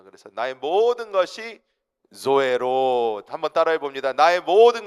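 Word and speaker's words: ζωή: 여기서 이 조에는 이 영어 Z 발음을 사용하셔야 됩니다. 그래서 나의 모든 것이 조에로 한번 따라해 봅니다.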